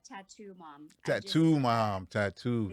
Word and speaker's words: Tattu Mom: I am joined today by, is it Tatum Mom? Is that, how do we pronounce this? Tatum? Tatum? How do we say this? No, it's Tattoo Mom.